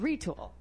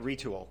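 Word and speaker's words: Retül: It's 3D motion capture technology right here in Traverse City, and it's called Retul. Yes. I'm saying it right. You are saying it right. Retul.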